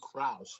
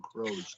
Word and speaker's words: Kraus: I believe it's Sue Kraus and not Sue Crows that we keep saying.